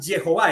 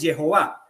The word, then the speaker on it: Jehová: la J la Job la h intermedia en hebreo se pronuncia como la J aspirada cierto como en inglés es como si lo estamos leyendo en inglés Jehová y fíjate en este